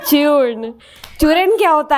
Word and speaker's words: चूर्ण: like to clarify this it's नॉट चूर इट्स चून okay it's चून चूर क्या होता है